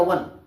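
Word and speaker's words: one: आई सा वन, ये आप देखेंगे वन, इसका आप प्रोनाउंसिएशन करेंगे तो आपका बनेगा वन।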